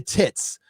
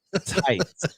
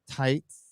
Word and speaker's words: Tits: Can Tom keep his secret and resist the coy charms of Rebecca Tits? That's pronounced tights. Tights. Says no Zaku boy for Streamlabs for $50. I was very tired. Miss Tits, that's tights.